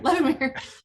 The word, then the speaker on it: Levemir: Sorry, Levemir.